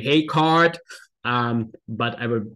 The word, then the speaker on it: Heegaard: should say again that it's actually the Danish name so it's probably hey card um but I would mispronounce it all the time anyway so a hay card diagram or maybe a